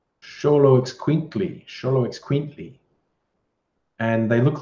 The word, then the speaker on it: Xoloitzcuintli: Looks like an Aztec sort of name, pronounced Xoloitzcuintli. Xoloitzcuintli.